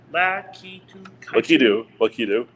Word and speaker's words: Lakitu: Lakitu.